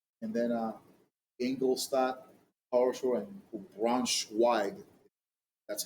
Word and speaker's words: Braunschweig: And then Ingolstadt, Karlsruhe, and Braunschweig. That's how you pronounce it.